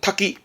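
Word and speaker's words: 多岐: 마늘 다자에다가 갈림길 기자에서 닭이 쓴 건데 발음 또 그냥 탁기, 탁기.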